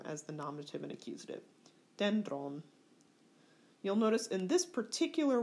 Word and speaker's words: dendron: Dendron. You'll notice in this particular word, there's an acute accent on the penult. And when the acute accent is on the penult, it stays there and never changes.